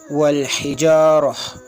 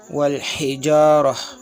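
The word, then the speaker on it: والحجارة: The round ta is pronounced as ha sometimes, if it is at the end of the sentence or if it is at the end of a word where you want to stop the recitation, then it will be pronounced as ha. For example, wal hijarah, wal hijarah.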